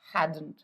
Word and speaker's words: hadn't: अगर आप ध्यान से फिर से मेरा प्रोनाउंसिएशन सुने तो मैं डी को थोड़ा सा बचा के बोल रही हूँ। आई एम not saying they हैडंट, they हैडंट नहीं। डी का साउंड बहुत ज़्यादा